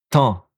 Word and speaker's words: temps: Le temps. J'ai le temps. It's always have a S. Temps. But we don't pronounce the P also.